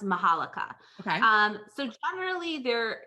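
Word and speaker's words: Majolica: pronouncing it correctly because when you see it it has a j in it but i think it's pronounced mahalika okay um so generally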